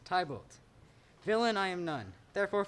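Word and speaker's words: Tybalt: art a villain sorry how do you say your name it's man ah yes tybott villain i am none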